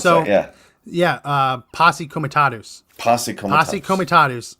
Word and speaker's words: Posse Comitatus: POTUS Comitatus or whatever? How do you pronounce that? Yeah, Posse Comitatus.